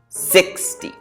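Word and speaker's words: sixty: So for the first one 60 we say the first part a little stronger. 60.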